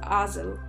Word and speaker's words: Hazel: alchem alcedo and dazzle i know it's hazel but in this case it's pronounced ozil there's not much to